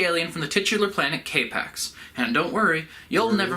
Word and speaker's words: K-PAX: produce he's the alien from the titular planet k-pacs and don't worry you'll never forget the planet's